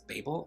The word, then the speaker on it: Babel: institute of translation aka babble i've also heard this book being pronounced as babel which i think is just really cute because it sounds like babe i don't know that